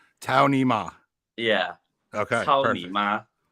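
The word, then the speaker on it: 操你妈: Yeah, and it's pronounced Cao Ni Ma. Cao Ni Ma.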